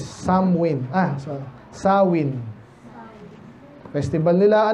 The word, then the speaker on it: Samhain: ko dito yan eh ang spelling is samhain sa parang samain no pero ang ano daw niyan pronunciation is samwin ah sorry saw festival